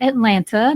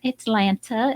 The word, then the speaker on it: Atlanta: which is coming to Atlanta this Thursday, August 25th. Atlanta, as we out of towners say it. Atlanta is how the locals say it.